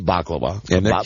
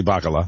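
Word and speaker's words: Bacala: Bobby Baklava. Bobby Baklava. I always get his name wrong. Yeah. Bobby Bakala. Bobby Bakala.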